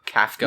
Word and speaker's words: Kafka: How do you pronounce Kafka. it? Kafka. Yeah, Kafka. I was thinking Kafka from Final Fantasy VI, but it's definitely Kafka.